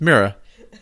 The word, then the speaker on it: Mira: Person lands, and then we find out it's Mira. That's how you say her name also. It's Mira. Like the thing that you look in for your reflection.